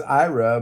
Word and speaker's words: Eira: the phonetic alphab alet it's pronounced like Ira over okay that's Ira but you are era